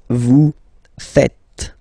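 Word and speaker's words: vous faites: French people tend to make the mistake and tend to to say V okay uh but then no no no no it's vu fet V fet okay so remember final s here is not pronounced and then this is not pronounce either so fet fet Vu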